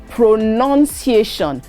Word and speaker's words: pronunciation: i a t i o n no it is pronunciation p r o n n-u-n c-i-a-t-i-o-n so be